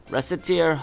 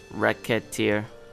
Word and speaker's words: Recettear: is then it's decided rest a tear oh rest a tear mispronounce it even slightly and racketeer racket this job is going